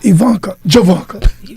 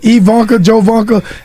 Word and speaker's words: Ivanka Janka: girls opportunity for Miss Ivanka Janka you mess my name up I've been calling her Ivanka joanka I spelled her name